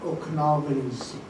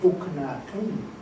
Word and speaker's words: Okanagan: And the reality of that word, it comes from the Syilx word Okanagan. And the mispronunciation by the people that couldn't pronounce our words like we do, coming through our territory, couldn't say Okanagan that well, and they say Okanagan.